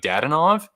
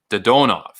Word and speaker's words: Dadonov: So in the Russian language, usually the emphasis is on the second syllable. So even though in our tongue, we would naturally say something like Dadonov, in the Russian language, it's Dodonov.